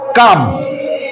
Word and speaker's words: calm: যেমন কি আরো আমরা বিপরীত শব্দ লিখতে পারি কি, অ্যাংরি, ক্রুদ্ধ যেটা অ্যাংরি ম্যান, কাম শান্ত। এল এর উচ্চারণ সাইলেন্স থাকবে, কারণ সাইলেন্স যে এল